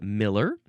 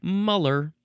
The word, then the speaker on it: Müller: Geiger-Müller counter, you can also pronounce it Miller or Muller because it is spelled, so it's Geiger-Müller, capital M-U-L-L-E-R, and the U has an umlaut.